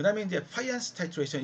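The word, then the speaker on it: Fajans: 그 다음에 이제 파이안스 타이트레이션, 이걸 여러분 파잔스라고 되게 발음을 안 하더라고요. 파이안 이렇게 발음을 합니다.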